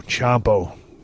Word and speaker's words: Ciampa: This is the show where I saw the Revival, Dash and Dawson work with Johnny Gargano and Tommaso Ciampa. I pronounced his name right.